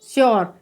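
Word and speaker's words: sure: ई आ रहा है, तो जब किसी वर्ड में यू के बाद में आर ई आएगा तो यू का उच्चारण क्या होगा, यो होगा। तो एस यू आर ई को हम क्या पढ़ेंगे, श्योर।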